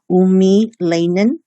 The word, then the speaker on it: eumelanin: It's pronounced as eumelanin and pheomelanin.